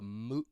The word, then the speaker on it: moot: that first word a moot point moot right you can hear my pronunciation sounds like boot or suit or Moot and when you